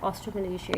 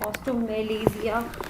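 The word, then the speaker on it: osteomalacia: वो क्या कहलाता है, ऑस्ट्रोमलेशिया। इसको कोई प्रोनाउंस करता है ऑस्ट्रोमलेशिया, कोई प्रोनाउंस करता है ऑस्ट्रोमेलेजिया और कोई प्रोनाउंस करता है ऑस्ट्रोमलेशिया। ठीक है, तो इसकी डिफरेंट प्रोनाउंसिएशन है डिफरेंट एरियाज़ के अंदर।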